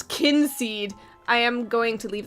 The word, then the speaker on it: Kynseed: How to pronounce kinseed? I am going to leave that alone. I don't care if it's kind seed or keen seed. It's kin seed to me.